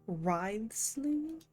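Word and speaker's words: Wriothesley: will make a personal rley is that how you say his name Risley you're right I've got to treasure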